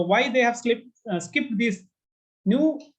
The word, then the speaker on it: Nu: Nu is like when we pronounce it is almost like new, the word new.